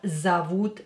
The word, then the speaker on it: зовут: Ее зовут Николь. Ее зовут Николь. Николь. Ее зовут Николь. Her name, ее, her name, ее зовут. Again here, о, not stressed, pronounce it as а.